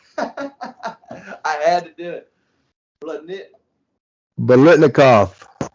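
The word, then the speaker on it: Biletnikoff: Receivers look like Blitnick, kick off, award. I had to do it. Blitnikoff. 4 syllables.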